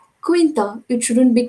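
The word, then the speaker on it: Quintero: alvarez quinta it is the pronunciation should be quinta it shouldn't be quinter it should be quinta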